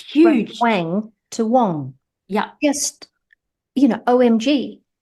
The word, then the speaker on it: Wang: my last name um so Wang spelled w n g is actually not how we pronounce it in my native language right so in Mandarin it pronounced Wong like Wang sounds nothing like it right and when